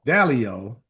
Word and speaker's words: Dalio: Dalio is how you pronounce it.